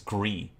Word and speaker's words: Gris: for asking French nitpicking you actually don't pronounce the S and oh it's Gris thank you Gris thank